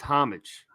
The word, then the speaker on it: Homage: talk about home homage did I say that right homage homage it's homage homage homage homage we'll never mispronounce it again uh homage is uh